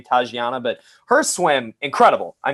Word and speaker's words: Tatjana: i think you say is her name pronounced tajiana because there's a j in in her name i'm gonna go with